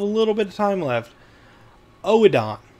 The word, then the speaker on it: Oedon: Oedon. Okay, it's not Odoin, it's Oedon.